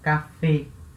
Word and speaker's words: café: Então, o acento agudo na vogal E vai indicar o som aberto, E. Então, café. Então, se eu colocar, por exemplo, o artigo na frente, né, o café, le café, tá? Esse le, a vogal E vai ter o som fechado dela, porque não tem acento nenhum, E, tá? E aqui, a vogal E vai ter o som aberto, E, né? Porque tem acento agudo.